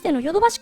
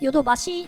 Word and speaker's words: 淀橋: place names like this, whether the reading is voiced or unvoiced, there's some variation in pronunciation and spelling. The old Yodobashi Ward was "Yodobashi" (voiced), and the romaji on the intersection right by the bridge is also spelled "Yodobashi" (voiced), so I think we can